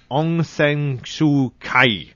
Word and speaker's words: Aung San Suu Kyi: And tied for number 9, Barbara Bush, Laura Bush, and I hope I'm saying this right, Aung San Suu Kyi.